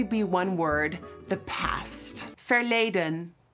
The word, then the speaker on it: verleden: It can only be one word, "the past" "Verleden" "Ver" (pronounced v-ayr) le (pronounced lay) den (pronounced dun) This side of my face is in the present.